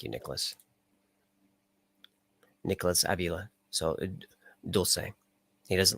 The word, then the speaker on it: Dulce: Dulce is how you pronounce it. Thank you, Nicholas. Nicholas Avila. So Dulce.